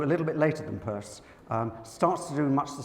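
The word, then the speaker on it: Peirce: want to pronounce as Pierce it's actually pronounced I'm assured the purse now how you get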